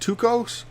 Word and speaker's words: Tycho: I loves me some Tao brah and I know I'm mispronouncing his name uh someone a native speaker uh corrected me I think it's actually pronounced tuos but I could be very wrong I am just going